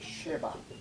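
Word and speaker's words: שֶׁבַע: 근데 샤바는 자음이 똑같은데 발음만 다르게 할 때 쉐바라고 읽을 때가 있어요. 쉐바.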